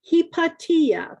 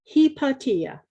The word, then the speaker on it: Hypatia: Hypatia is one you probably have heard of, and it's pronounced Hypatia because she was Greek. The Americans mispronounce it, but it's properly pronounced Hypatia.